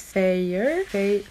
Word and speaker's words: Feyre: The first chapter where, oh, how do you even pronounce her name? Her name is Feyre.